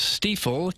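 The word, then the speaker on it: Stifel: pronounce the name now it is steifel kind of rhymes with Regal kind of which makes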